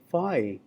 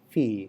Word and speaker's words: phi: colleagues and students you know uh they they pronounce it fi uh and that's understandable but you know the uh the uh original Greek pronunciation uh that's not fi that's fee.